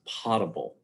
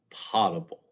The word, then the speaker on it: potable: so many times with saying it wrong it's pronounced potable potable i won't tell you how i said it